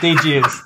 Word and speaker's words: Deages: So I want to shout out GNL Deages. I think it's Deages. Deages is how it's pronounced.